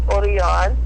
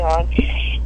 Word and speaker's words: Orion: you would so my husband's name is oron Orion um it's spelled Orion like the constellation where we call him oron and yeah he's he's